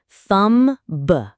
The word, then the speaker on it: thumb: People often say thumbb or debt, but the B is silent.